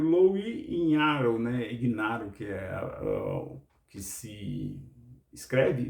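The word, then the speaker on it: Ignarro: E o outro foi o Louis Ignaro, né? Ignaro, que se escreve, mas eu acho que é a origem italiana, então é Ignaro a pronúncia correta, Louis Ignaro, que foi o que descobriu que tinha um fator externo.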